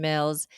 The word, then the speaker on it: Mills: me my name is Karen Mills it rhymes with bills dollar dollar bills you know the one